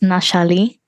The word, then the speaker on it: Nashali: your name correctly um it's more pronounced nashali nashali thank you very much